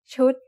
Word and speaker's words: ชุด: What's the tone of ชุด? It's a low-class consonant with a dead syllable and a short vowel that makes it high tone.